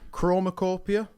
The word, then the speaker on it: CHROMAKOPIA: CHROMAKOPIA, which I believe is the way you pronounce it. I think you got it spot on there, mate.